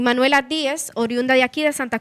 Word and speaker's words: Díez: Entonces, la correcta pronunciación del apellido de Duarte es Juan Pablo Duarte y Díez. Y Díez, así es su apellido.